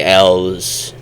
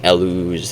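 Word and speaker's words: Elw: I just say L's. You know, like the letter L. L's. It's kind of how that sounds. I don't really like saying Elus.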